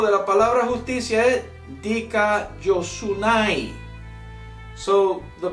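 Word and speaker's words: δικαιοσύνη: La pronunciación en griego de la palabra justicia es dikaiosunai. So the pronouncement of the Greek word of justice is dikaiosunai.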